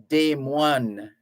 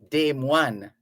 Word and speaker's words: Des Moines: So because it's French, if you're going to pronounce it the French way, you would say Des Moines. Des Moines. The Americans just say Des Moines.